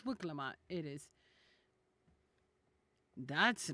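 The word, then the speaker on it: Wuk Lamat: Wukamat. I'm sorry. I'm saying her name wrong. No, it's Wuklamat.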